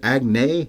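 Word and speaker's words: Agnès: It's an accent on the E, and it's, I think the reverse one is how that works, accent grave. It's grave, yeah. Is it Agnes Varda?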